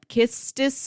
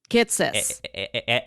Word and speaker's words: Kitsis: I'm getting all the syllables jumbled up. Kistis and Horowitz? Yes. Okay. Kitsis.